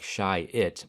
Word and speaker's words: Chiat: The word doesn't spell as it sounds. It sounds like shy-it, but it's spelled like chai-at.